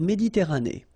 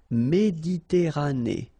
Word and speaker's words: Méditerranée: Okay, here final not pronounced, but then you pronounce this E at the end. Méditerranée.